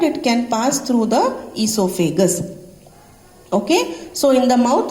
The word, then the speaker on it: esophagus: Okay, it is pronounced as esophagus.